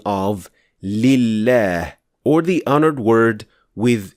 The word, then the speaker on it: لله: So it is extremely important to understand that this lam is not actually pronounced at all. We only pronounce the second lam with shadda, just like al-layl.